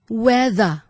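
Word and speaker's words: whether: ต่อ ไป นะ คะ คำ ว่า wea wea นะ คะ w h e t h e r ตัว th ใน คำ นี้ จะ ออก เสียง เป็น เสียง ก้อง ค่ะ wea wea wea นะ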